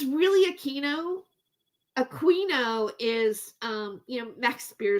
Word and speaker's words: Aquino: David doesn't even pronounce Aquino correctly. Yeah, you know what? It's really Aquino.